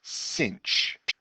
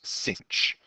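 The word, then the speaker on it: sinh: Um, it is pronounced cinch. Maybe we'll say it like that. It's pronounced cinch.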